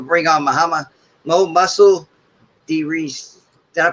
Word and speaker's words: DeReese: i'm going to bring on my mo muscle d reese did i pronounce that right man yes sir all right